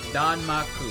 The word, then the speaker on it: danmaku: It's a term for something, it rolls off the tongue, it's 3 syllables, and it gets the point across. Danmaku, there you go.